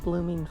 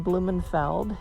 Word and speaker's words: Blumenfeld: vision of blooming flowers sometimes my last name blumenfeld is mispronounced or misspelled most frequently it's blooming b-l-o-o-m-i-n-g that people mistake when it should be b-l-u-m-e-n-f-e-l-d and also people